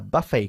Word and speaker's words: buffet: A buffet car. Es un coche Eso restaurante. es. La T es muda porque... Pues básicamente es una palabra francesa.